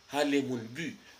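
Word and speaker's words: bû: veut dire roussette alors le le son en yï ça ça s'écrit U avec un accent circonflexe ok c'est là qu'on dit u bu alors bu c'est une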